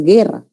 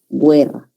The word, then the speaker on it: guerra: Sin embargo, sabemos que esa U no se pronuncia, ese es un dígrafo, ¿no? Este es un dígrafo. La palabra es guerra, no es guerra.